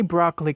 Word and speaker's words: broccoli: vegetable world it's broccoli to say broccoli correctly just like what we did with the first word chocolate just drop the second syllable but not completely to make a cello sound that little uh sound there is called schwa a very common sound in the english language broccoli again broccoli down